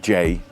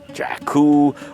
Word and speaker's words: Jaecoo: By the way, again, it's pronounced Ju, not Jaku or Jacu or Jiu or even JQ cuz that's a town in the Eastern Cape.